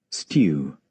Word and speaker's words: stew: This word is pronounced, just so you know, is pronounced in British English as stew. Stew. But in American English, it's pronounced as stew. Would you like to listen to that? Stew. Stew. Well, he says stew. But in American English, you will say stew.